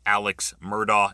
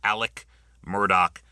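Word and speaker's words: Alex Murdaugh: Um, it looks like Alex Murdo. It is pronounced Alec Murdoch.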